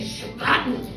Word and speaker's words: Spaten: And if you're really being authentic and you want to be really cool, then you can say it like the Germans do. They say Spaten.